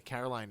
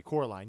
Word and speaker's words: Coraline: Sleepy Hollow Sleepy Hollow sure um uh the Caroline is really good oh Edwood Edwood is hilarious and you called you called Coraline sorry Coraline yeah that's how good that movie was you